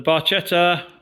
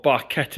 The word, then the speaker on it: Barchetta: The Barchetta, or Barchetta if you want to pronounce it incorrectly, is awaiting.